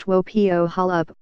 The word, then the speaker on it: Wopo Holup: Hill was a homemaker her unusual name pronounced tuo Pio Holub was something of a